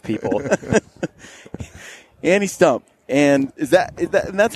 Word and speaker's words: Stumpf: pronounce the f people any stump and is that that's how you say right tree stump with an F on the end stump you do be